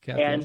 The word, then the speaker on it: Capion: So yes, it's pronounced Capion. Okay, Capion.